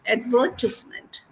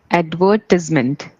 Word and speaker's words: advertisement: uh it is advertisment advertisement advertisement yeah advertisement advertisement yeah yeah the no stress is on the second syllable ad is the first